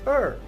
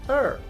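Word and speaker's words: heir: spelled as h-e-i-r but here the h is silent we pronounce it as ur not her but er right h is silent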